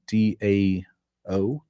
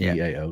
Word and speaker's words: TAO: Um, if you're not familiar with that one, that's a coin D AO. No, TAO. T, sorry, T AO. Pronounced T AO.